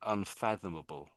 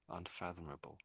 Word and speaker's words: unfathomable: So, un um where's the F? Fathom. So, it's un little gaps in the word. So, un is obviously Whoops. Yeah. So, un makes it an opposite, doesn't it? It makes the opposite word. So, fathom and a fathom. That's really what you're saying. Unfathomable. Unfathomable.